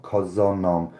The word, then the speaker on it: köszönöm: of the week yes Hungarian for thank you is pronounced curse the name curse and shut up Wow okay o s O & M I believe it is K o s z o and M cos them nom köszönöm so my argument of